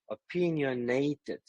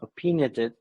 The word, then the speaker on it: opinionated: the word opinionated okay opinionated Ned you are just reducing the last stress it's about opinionated not opin if you pronounce opin or something like this you can have some mistake here okay and you could